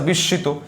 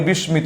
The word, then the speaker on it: বিস্মিত: না আচ্ছা এরকটা আছে বিশিত এটা আমরা অনেকে বলি বিস্মিত না এটা হবে বিশ্িত উচ্চারণ যখন পড়াবো তখন আপনাদের এগ খুব সুন্দর কাভার হয়ে যাবে এটা প্রনান্সিয়েশন হবে হচ্ছে বিশিত হ্যা বিশিত আচ্ছা এছাড়া আরো একটা